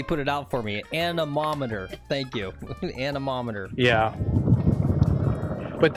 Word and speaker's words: anemometer: I will spend the $15 for Lex to use a, and he phonetically put it out for me, anemometer.